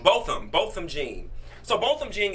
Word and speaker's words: Botham: Botham. Botham.